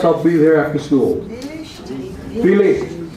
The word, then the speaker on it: Vielleicht: Vielleicht. F. Philippe. V is pronounced like an F.